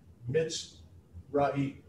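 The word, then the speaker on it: מצרים: In English, the mem, the M-I, the mit, that syllable mit.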